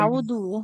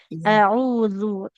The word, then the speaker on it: أعوذ: Di huruf zal biasanya ya. Suka ditawuznya kayak mukedal. Jadi tidak audu ya. Tapi auzu.